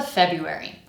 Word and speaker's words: February: With this word, just don't even try to make it sound like how it's spelled because this is one of those weird words where the spelling is like really different from the pronunciation. So, instead, let's focus on the rhythm. In fact, the words January and February actually rhyme.